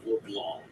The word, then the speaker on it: LeBlanc: grew up in Quebec, you pronounce his name LeBlanc, the French pronunciation.